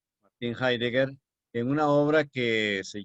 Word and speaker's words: Heidegger: escribe con H-E-I-D-G con doble G, y se pronuncia Heidegger. Martin Heidegger, en una obra que se llama en alemán Sein und Zeit, o sea, ser.